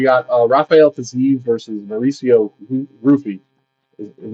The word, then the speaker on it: Ruffy: Is it Ruffy or Hoofy? I always forget. It's pronounced both ways. Okay. Typically the letters in the language would be pronounced Hoofy, but a lot of people call it Ruffy and he's pronounced it